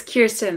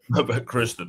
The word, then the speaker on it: Kirsten: Kirsten, right? I said it right? It's Kirsten, but that's okay. Kristen, okay. What's your final thoughts? You said it wrong.